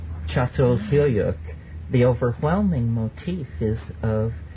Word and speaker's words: Çatalhöyük: Actually spelled C-A-T-A-L, but it's called Çatalhöyük.